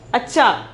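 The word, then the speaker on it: अच्छा: are so beautiful then sixth one is acha acha pronunciation is acha meaning is better or good better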